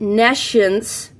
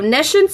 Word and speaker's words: nescience: knowledgeable about it, and nescience would be the opposite of that. It's just pronounced a little differently than the word science.